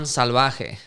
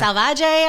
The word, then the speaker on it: Salvaje: Damn, you said it right. Right? Yeah, I appreciate that. I get Salvaje a lot, and I'm like, what? That sounds awful.